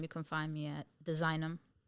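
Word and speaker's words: DSIGNM: But on Instagram, you can find me at Designum. It's spelled cleverly, too. So it's DSIGN and then M.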